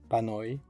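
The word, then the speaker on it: panoj: The mark of the plural is the letter J, which is pronounced I. Pano, a bread, panoi, breads.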